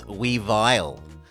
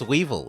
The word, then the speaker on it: Weevil: it oh it's like people who insist that Weevil isn't Weevil that it's weile no it's Weevil it's meant to rhyme with evil I don't think it's